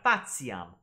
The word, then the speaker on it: faciam: Faciam. They're both wrong. It's faciam. Faciam. Right? The C always makes that K sound in classical Latin.